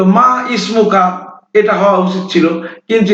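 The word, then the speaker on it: ما اسمك: মিম আলিফ জবর মা, এখানে ইসমুকা হওয়ার কথা উচিত ছিল মা ইসমুকা, কিন্তু এখানে এই আলিফটা উচ্চারণ হবে না, এটা হবে এক চান্সে মা ইসমুকা।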